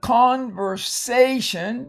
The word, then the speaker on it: conversation: At the end of the conversation, remember the A right there is long, always in front of the TION and closed syllable.